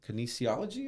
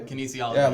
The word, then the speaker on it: kinesiology: do you say it Kinesiology is how you say canology like workout [ __